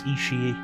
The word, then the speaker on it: Ishii: That's why I know how to pronounce Ishii.